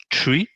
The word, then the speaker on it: three: En particulier le chiffre 3 qui normalement se prononce three mais du coup qui va se prononcer tree comme un arbre. Et c'est pour ne pas être confondu avec free dans certaines langues parce que du coup